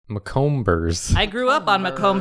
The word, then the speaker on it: Macomber: It's spelled Maybe. She owns it. DEBBIE space MACOMBER apostrophe S. McCombers. McComers.